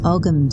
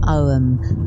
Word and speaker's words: Ogham: It's the Celtic Reiki course, which works with the Ogham symbols, or Ogham, depending how you want to pronounce it. Ogham or Ogham, there isn't a right way.